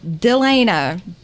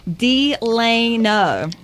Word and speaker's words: Delano: And we have a guest in here, Tiffany Delano. Am I saying it right? You are saying it correct. Yesterday, I was telling him and Bug Eyes over there, I kept on saying Delano. Delano.